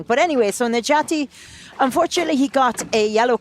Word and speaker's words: Necati: My pronunciation of his name was corrected in Kaunas I and know. again here. So now we know it's Necati.